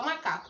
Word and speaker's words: macaco: Eu vou fingir que o macaco tá longe de mim. Aí eu vou chamar o macaco. Macaco! Tá vendo que o K ficou mais tempo? Essa é a sílaba tônica.